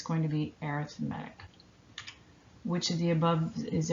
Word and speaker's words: arithmetic: So an arithmetic, notice I'm saying arithmetic, not arithmetic, because it's an adjective.